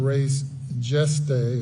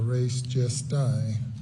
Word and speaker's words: res gestae: under the theory of res geste or res gestae, as some might pronounce it.